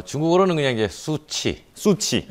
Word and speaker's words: SU7: 전기차 중국어로는 뭐라고 부릅니까 어 중국어로는 그냥 이제 수치 수치 예 이렇게 읽는 건데 이제 su 이제